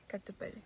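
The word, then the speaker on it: kartupeļi: इनपेट कापली हां कापली सो आई वास pronouncing you wrong the whole time carpet it's like कारपेक्स different स्लैंड या बट यू से कार्टेली कार्तुपेली वाओ तो मैं तब से गलत बोलता कार्टिली ओके हम बोलते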